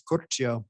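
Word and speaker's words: Curcio: and i have curtio here from transferal business advisors of new york we're just pronouncing your last name what's the proper pronouncing uh yeah in italian it's corcho there you go and it's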